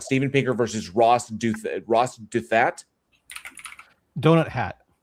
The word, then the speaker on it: Douthat: Donut Hat, I think it's pronounced.